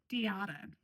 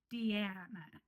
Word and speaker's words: Diana: Because she pronounces her name Diana. Yes. And in the Spanish way. In the Spanish way. Yes. And when I say her name on any video, it comes out Diana.